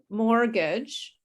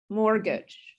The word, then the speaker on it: mortgage: the t okay um same thing with mortgage mortgage we don't say the t mortgage okay mortgage and debt